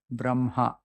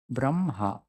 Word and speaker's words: Brahma: it is written but it's an exception only for this word that you have to pronounce it as if it is written b m h a Braha how are you pronouncing